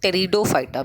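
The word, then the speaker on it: Pteridophyta: डाल देते हैं डिविजन टेरिडोफाइटा में इसमें पीस साइलेंट है इट इज not married to fight आईटी stands ओं फटा और जो सीट बनाते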